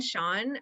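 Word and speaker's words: Chaon: I've been Dan Sean, who's he writes kind of dark fiction and horror. His last name is spelled Choan, I think. It's kind of it's pronounced Sean according to his Twitter though.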